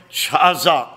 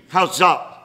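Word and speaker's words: chazaq: Now, that's our old friend, Chazak. It is spelled C-H-A-Z-A-Q, Chazak.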